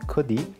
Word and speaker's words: Cordy: Hi, my name is Cordy, and you can also call me Cordy. And that's how you pronounce it in Chinese.